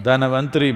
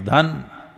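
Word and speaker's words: Dhanvantari: North Indian people must connect, don't go on clipping away one syllable and come Dhanavantari becomes Dhan, Trayodashi becomes Tera.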